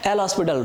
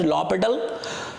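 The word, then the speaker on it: L'Hôpital: वहां पर partial derivative का डेफिनेशन यूज हो सकता है, एल हॉस्पिटल रूल यूज हो सकता है, basically it is pronounced as लॉपिटल, और वहां पर आप डेरिवेटिव्स ऐसे फाइंड कर सकते हैं.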